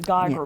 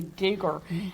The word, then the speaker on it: Geiger: A lot of people pronounce it Geiger, but it's actually Geiger.